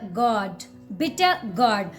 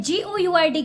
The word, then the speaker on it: gourd: Okay, so the ninth vegetable name is bitter gourd. So keep in mind, in bitter last r is silent. Okay, and in gourd, gourd, r is silent.